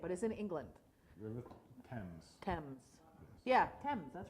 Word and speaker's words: Thames: you say it but is in England towns Thames yeah Thames that's right well they somewhere no